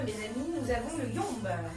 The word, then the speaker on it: Yomb: Nous avons le Yomb. Yomb qui s'écrit Y-O-M-B.